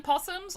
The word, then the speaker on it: opossum: but like like australian possums or like open uh well i mean i guess it would be so the so the opossum thing even though it's spelled opossum they just pronounce it possum here and uh because i